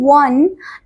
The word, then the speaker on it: one: The O is one in the O is pronounced as W in one a consonant sound.